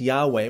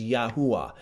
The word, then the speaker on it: Yahweh: was originally pronounced okay some people might say it it's pronounced Jehovah well no it's not uh and some people think it's Yahweh well it's a little bit closer but I think that it was originally pronounced as yaha okay so I'm going